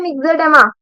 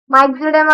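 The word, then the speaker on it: myxoedema: तीसरी डिजीज है मिक्सोडेमा। क्या है? मिक्सोडेमा। कोई इसको क्या बोलता है? माइक्सोडेमा भी बोलता है।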